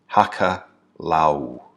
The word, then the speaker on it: hakalau: the state of alcalá now hakalau is spelled h a.k.a la you Hakka Lau and Hakka means to